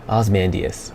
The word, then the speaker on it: Ozymandias: Okay, Ozymandias.